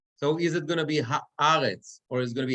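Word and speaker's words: הָאָרֶץ: And since that vertical line is under the aleph, we read it haaretz, right? The accent is on the aleph, haaretz.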